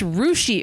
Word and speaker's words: Russia: get on the way wait a minute it's rushi Ohio pronounced or spelled like Russia spelled like Russia